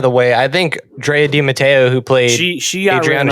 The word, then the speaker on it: De Matteo: last name on paper, how would you pronounce it? De Matteo. De Matteo, okay. Yeah. That's how you say it.